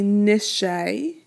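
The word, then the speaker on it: נְשֵׁי: Similarly, nishe, right? It rhymes with binet.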